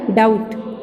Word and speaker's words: doubt: ठीक है, तो बी की प्रोनाउंस नहीं करेंगे, आपका हो जाएगा डेट, या आपका हो जाएगा डाउट, या आपका हो जाएगा क्या हो जाएगा सटल, सबटल।